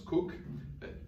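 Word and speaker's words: Coke: à l'influence d'Edward Cook, qu'on écrit comme la boisson gazeuse, mais que les Britanniques, selon leur sens inné de la prononciation, prononcent Cook, juriste du XVIIe siècle.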